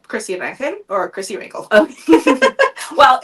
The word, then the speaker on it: Rangel: Actually, Rangel is correct.